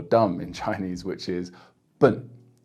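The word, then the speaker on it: 笨: in Chinese, which is bun, bun. So imagine you're saying the very first syllable of the word banana, banana, bun, and you'll pretty much say it perfectly.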